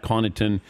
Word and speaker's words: Connaughton: up didn't they yeah the worst one I got was usually it's like the GH gets confused for a pH or the G looks